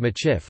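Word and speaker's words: Michif: Traditionally, the Métis spoke a mixed language called Machif with various regional dialects. Machif, a phonetic spelling of the Métis pronunciation of Medif, a variant of Métis, is also used as the name of the Métis people.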